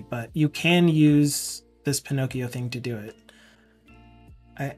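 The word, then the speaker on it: Pinokio: so if you download a thing called Pinocchio which is spelled p i n o k i o um for your OS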